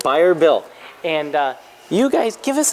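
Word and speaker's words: Bayer Built: Buyer Built.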